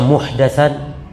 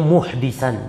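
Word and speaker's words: مُحْدِثًا: Di sini yang benar bacanya muhdisan dengan bikasrid dal, dalnya di kasrah.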